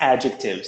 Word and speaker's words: adjective: of students and teachers who insist that it's objective yeah but it's adjectives stress on the first syllable yeah absolutely and you